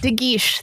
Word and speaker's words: De Guiche: De Guiche. That's what I should have said. Yeah, and I believe it's pronounced protestations, not protestations.